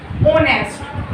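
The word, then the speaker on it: honest: ओनेस्ट, एच यहाँ पे क्या होता है हमारा, हमेशा साइलेंट होता है, इसको हम कैसे लिखते हैं ओनेस्ट।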